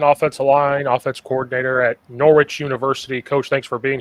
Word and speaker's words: Norwich: Just like a lot of New England towns or and universities and everything, it's spelled some weird way, but it's pronounced like like it's a witch or Norwich.